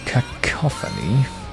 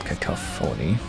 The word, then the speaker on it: cacophony: sure let's hold that logical cacophony not kickoff phoney which i'm sure so